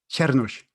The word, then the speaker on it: Csernus: Czernus.